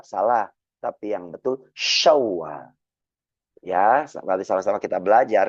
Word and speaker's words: Syawal: Tata cara pengucapannya, tengah-tengah lidah nempelkan ke langit-langit atas. Maka keluar angin yang besar seperti kita mengusir ayam. Sya, shi, shu, Syawal.